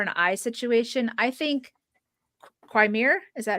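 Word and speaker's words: Qimir: I think Quimir, is that how you say his name? Quimir.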